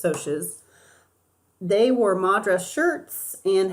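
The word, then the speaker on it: Socs: were sotius for sure shorts it looks like socks but you pronounce its OSHA's they wore Madra shirts and had money and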